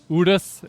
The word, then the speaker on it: Urus: Lamborghini Udus is how you pronounce it.